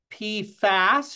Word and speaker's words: PFAS: I want to say that PFAS, short vowel, is one of the conundrums.